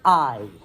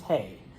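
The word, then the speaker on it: hay: number chart the word i h a y this does not mean the thing that you feed your horse all right not pronounced hey but I all right I means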